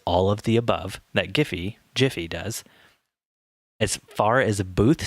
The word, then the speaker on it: Giphy: For those of you that don't know, Giphy is a like an iPad printless photo booth that simply I think it's pronounced Jiffy.